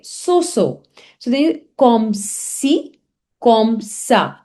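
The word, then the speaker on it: comme ci, comme ça: say so, so then comme si, comme ça. So it has C like this. It has C steady. So you say comme si, comme ça, because it gives the sound of S, so SI.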